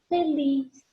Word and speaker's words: feliz: Feliz, feliz. Feliz é uma oxítona, última sílaba tônica, coluna da esquerda.